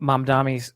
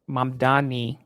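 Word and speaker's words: Mamdani: And let me let me give Mam Dami some um M Dani, excuse me. I don't want to mispronounce his name.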